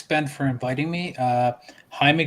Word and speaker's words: Jaime: for inviting me uh jaime you can always also call me jamie it's okay terrible pronunciation my name is like one of the hardest to like for people to get right because uh like it just the j's in spanish confused everybody yeah um um hey